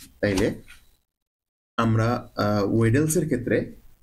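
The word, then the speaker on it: Weddle's: যাই হোক, এবং আমাদের 4 নম্বর আরেকটা মেথড আছে, সেটা হচ্ছে দি ওয়েলস মেথড, ওয়েডলস, সরি উচ্চারণ ভুল করছি, এটা হলো 4 নম্বর হচ্ছে ওয়েডলস মেথড, WDLES, ওয়েডলস রুল।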